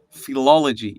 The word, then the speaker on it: philology: Did you study philology?